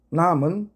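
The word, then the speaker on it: numb: 남은 감각이 없게 만들다 라는 뜻입니다.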